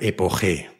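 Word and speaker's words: epoché: Trataban todos los problemas de la vida con una sola palabra que significa suspendo el juicio, que creo que se pronuncia epogé, pero se escribe epoche.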